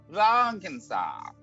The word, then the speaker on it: Vankensak: One more time. Vankensak. Von Kansak. Yes, with the emphasis on the first syllable.